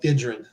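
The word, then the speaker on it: Idran: I can't pronounce it. It was called Idrin. Idrian.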